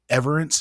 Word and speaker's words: Everence: She works at Everence. Is that the correct pronunciation?